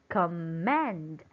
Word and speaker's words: command: Let's try to put it on the first syllable and let's pronounce it. Command. Command. Does it sound nice? No. How about on the second one? Let's try it on the second one. Command. Command. Does it sound better?